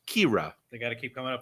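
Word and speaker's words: Qi'ra: there people were uh her name was kira everybody but it's spelled cue i apostrophe r a kira they gotta keep coming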